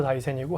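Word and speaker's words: 大山: 중에 하나가 다이센 프로젝트였는데 다이센이 이제 그 일본말로 다이센이고 한자로 쓰면 태산이라고 이제 저희 저희 이제 한국말로는 우리 한국말로는 태산이라고 이제 쓰고 있고 일본으로 발음하게 되면 다이센인데 다이센이 후지산하고 더불어서 일본의 3대 영산이에요.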